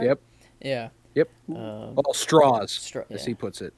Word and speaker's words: Strauss: He doesn't like the German sounding pronunciation of his name. Strauss. I'll say it like that then. He does the southern straws.